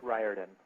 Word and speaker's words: Riordan: Hi, my name is Rick Riordan. Long I, like in rye bread.